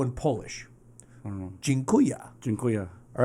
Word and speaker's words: Dziękuję: It's Dziękuję. association. That's how you remember That's stuff. exactly how I think about all languages. So, hey, Jeremy, jeans are cool, yeah? Dziękuję.